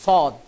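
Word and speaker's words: صاد: এই হরফটির উচ্চারণ হয় জিহ্বার আগা সামনের নিচের দুই দাঁতের গোড়ার সাথে সম্পৃক্ত হয়ে এই হরফটির উচ্চারণ হবে এইভাবে সদ, সদ, সদ।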